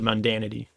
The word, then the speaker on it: mundanity: displaying his the the mundanity of his life. Is that how you say it? Ma mundanity. Yeah. Yeah. Mundanity.